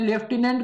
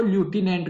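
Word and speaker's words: lieutenant: देखिए, कई जगह आप देखेंगे लेफ्टिनेंट गवर्नर, मतलब स्पेलिंग तो लेफ्टिनेंट ही होती है, कोई लोग बोलते हैं लेफ्टिनेंट गवर्नर, और कहीं मिलता है आपको लेफ्टिनेंट गवर्नर, लेफ्टिनेंट अलग होता है।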